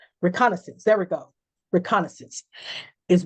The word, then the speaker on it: reconnaissance: Reconnaissance. I know I'm pronouncing that wrong. Reconnaissance.